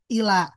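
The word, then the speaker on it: إلى: Ketika tidak bersambung dengan isim domir maka dibaca ila. Tapi ketika bersambung dengan ka seperti ini ilaika atau bersambung dengan hu ilaihi. Nah, itu dibacanya ilai.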